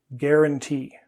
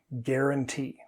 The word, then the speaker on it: guarantee: The problem is actually towards the other end of the word, that U. It confuses people. Just skip it. Don't say it. Guarantee. Guarantee.